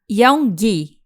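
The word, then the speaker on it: Yaongyi: Olha só, gente, True Beauty, ele é escrito e ilustrado por Yeongi. Complexa a pronúncia, mas vocês estão entendendo.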